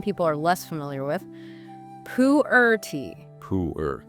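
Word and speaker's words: Pu-erh: And then maybe one people are less familiar with, pooer tea. Pooer. How do you spell that?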